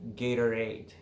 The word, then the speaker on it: Gatorade: In American English, many times, Americans will almost pronounce as a like D, a T sound, very soft, and almost not pronounced. For example, you know the sports drink, Gatorade, but when you read